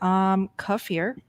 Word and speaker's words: kefir: Kefir. Okay. This doesn't really help. It's definitely kefir. Kefir. Emphasis on the er. Thanks, Jerry. Yeah. Now there was this one. Yeah. Kefir.